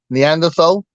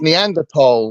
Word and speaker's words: Neanderthal: way that people pronounced Neanderthal and going, it's Neanderthal, and doing this big statement. And he's wrong. It's not how you pronounce it.